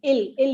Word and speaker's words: will: Yeah, will, you need not pronounce will as will. Ill is enough.